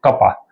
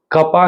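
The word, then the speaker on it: kappa: नहीं लिखते वैसे ही कपा है ये तो हम इसको प्रोनाउंस क्या करेंगे यह कौन है अपना इट इज आवर कपा के ए डबल प इसको कपा से रिप्रेजेंट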